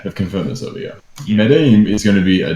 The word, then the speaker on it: Medellin: Pronounced Medellin.